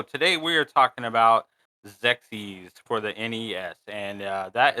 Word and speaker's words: XEXYZ: into it so today we are talking about zexis for the NES and that is spelled X XYZ zexis was released in Japan